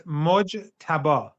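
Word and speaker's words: Mojtaba: It's Mojaba. Mojaba Mojaba Kame the son of the previous Ayatollah who's now been elected the new supreme leader.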